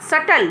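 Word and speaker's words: subtle: एस यू बीटीए ली लेकिन इसमें बच्चों यह बीच होता है यह साइलेंट होता है और इसका सही प्रनंसीएशन होगा सटल ना कि सब्सक्राइब तो हम इसको क्या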